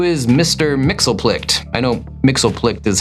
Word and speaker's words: Mxyzptlk: I know Mxyzptlk is how Matt pronounces the name. I think it in the cartoons we saw once it was pronounced Mxyziptlk or something.